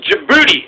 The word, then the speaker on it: Djibouti: tiny country and it's Djibouti it starts with the D but the D is silent like in Django but Djibouti I mean is this